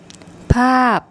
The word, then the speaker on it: ภาพ: ภาพ ภาพ ภาพ And that word means picture. And the tone rules, we've got a low class initial consonant. It's a dead syllable because it ends with a P sound.